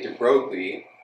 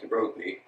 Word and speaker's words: de Broglie: I think most Americans say de Broglie, but sure, he's French and you definitely would not say it like de Broglie. It's more like de Broglie.